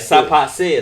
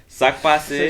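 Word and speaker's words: sak pase: It's like, still like sapase. Like that's not how you say it, bro. Yeah, I think he's still tight about it. I know. That's what I'm saying. Bro. I'm not tight at him about it. Oh. But I'm just saying other people be like sapase mabule. That's not how you freaking say it. Sakpase, That's right? not how you say it. Yes, sakpase. Sakbas.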